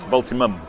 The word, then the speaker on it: Voltimum: We've had a contact with Voltium. I always say it wrong. Voltimum. Voltium. And there no, it is. Voltimum.